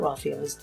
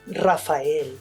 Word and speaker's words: Raphael: be field grade officers my name is not Rafael it's Raphael and growing up my parents made sure that I knew how to pronounce it correctly rafhael I'm an